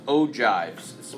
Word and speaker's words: ogives: polygons and it's pronounced ogives pronounced like a J not aji I can't explain why